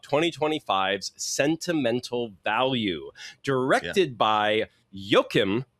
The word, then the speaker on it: Joachim: So we are talking about 2025's sentimental value directed by Yokim Trier, or that's how he pronounced his name in an interview recently where I'm so